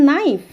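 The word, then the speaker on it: knife: এখানে সাইলেন্ট বা নো নো I know him I know her নো এখানেও কি হচ্ছে কে কিন্তু সাইলেন্ট থাকছে বা নাইফ নাইফ এখানেও কে সাইলেন্ট থাকছে তাহলে প্রথম পয়েন্টে আমরা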